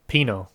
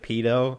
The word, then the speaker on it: pino: say tree in spanish pinot how for half a second i thought you said pito and i was like nick that's not nice pinot like p-i-n-o is kind of how i would spell it i think nick the